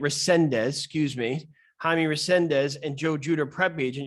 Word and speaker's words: Resendiz: the youtube search joe and jaime jaime rendez uh i just pronounced your name resendez excuse me jaime resendez and joe juder prepage and you'll see the